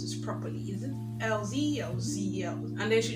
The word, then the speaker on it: Elzee: And I'm like, it's just letter L and that's it. Elzee.